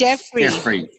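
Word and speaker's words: Geoffrey: you pronounce that name, it's actually a silent O. You ignore the O, so it's Jeffrey.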